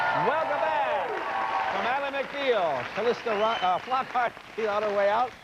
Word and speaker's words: Calista: Kalista Flop on her way out.